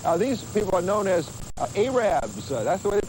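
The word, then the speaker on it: arabber: farms of sorts these people are known as arabs that's the way they pronounce it arabs and what they do is they sell fresh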